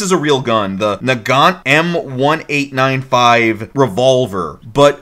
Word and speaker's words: Nagant: This is a real gun, the Nagant M1895 revolver, but there's a T on the end of it that might be silent. Yeah, and the English pronunciation, they've got them just pronouncing it Nagan.